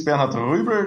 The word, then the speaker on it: Bernhard Ruebl: to be here well my name is bernard ruber that's the correct way to pronounce it and i'm also a